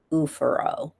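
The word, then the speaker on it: oophoro: ovary has ovaro or ufor pronounced ufuro.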